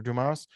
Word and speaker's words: Dumas: I said Dumas earlier and I feel like an now. That's okay. No, you're pronouncing him as he should be pron I